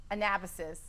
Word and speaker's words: Anabasis: And last year you released your EP, Anabasis.